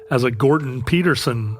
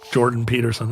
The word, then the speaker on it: Jordan Peterson: You can't even insult somebody anymore without potentially revealing yourself as a Gordon Peterson, or what is his name? Jordan Peterson. I pronounced it in the Spanish way.